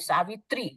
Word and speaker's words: Savitri: But South Indian also in some of the pronunciation, like Savitri, you said TH, you write also H. There is no H, Savitri, it's a T.